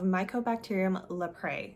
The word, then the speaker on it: Mycobacterium leprae: Leprosy is a bacterial infection of Mycobacterium leprae, I believe is how you pronounce it.